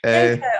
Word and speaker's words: Didenko: Oh gosh, Anton, how do you pronounce Didenko. Didenko, I knew that.